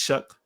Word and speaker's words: Shuck: name that's I can but it's shook there's no K or C but it's it's shook